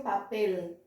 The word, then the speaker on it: papel: A consoante L, no final de sílabas, você vai dobrar a língua. Lembra que eu falei? Então, por exemplo, eu tenho a palavra papel. Eu escrevo igual ao português, mas eu pronuncio papel, papel, e não papel com som de U.